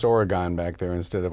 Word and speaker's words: Oregon: again actually my hometown is Oregon Wisconsin it's pronounced Oregon back there instead of Oregon uh-huh it's about five miles south of madison